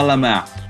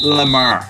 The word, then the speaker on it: Lemar: They've got a young player, listen to my French pronunciation here, Thomas Lemar. His name is Thomas Lemar for people from our neck of the woods.